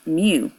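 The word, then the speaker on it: μ: And this symbol right here, this symbol is mu. Mu. So it's, it's pronounced in, it's pronounced myu, and it is the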